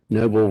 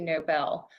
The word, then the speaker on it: Nobel: matter ms noble who does in fact pronounce her name noble as opposed to nobel i would ask the